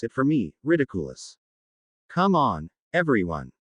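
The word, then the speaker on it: Riddikulus: The word sounded odd, like someone trying to turn an English word into Latin.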